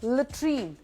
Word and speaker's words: latrine: एंड लेट्रीन, LATRINE, जिसको हम क्या कहते हैं मुझे बताने की ज़रूरत नहीं है, लेकिन उसकी सही प्रोनाउंसिएशन इज़ लेट्रीन.